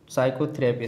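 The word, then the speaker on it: psychotherapy: साइकोथेरेपी में कौन सा सब साइलेंट है, तो दोस्तों इसमें पी साइलेंट है, क्योंकि इसमें इस ग्रामर का रूल सुन लीजिए, कोई भी शब्द पी एस से शुरू होता है तो उसमें पी साइलेंट रहता है।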